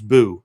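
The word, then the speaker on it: Buh: It's Boo. B U H, but Boo.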